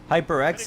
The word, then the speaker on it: HyperX: HyperX is the pronunciation. Okay. Like the microphone.